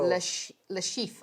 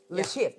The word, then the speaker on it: Le Chiffre: Yeah, it's supposed to mean cipher in French. Lucifer. Le chiffre, I think is how I read it. Le chiffre. Le chiffre. Lucifer. He's a Russian, right? Le chiffre.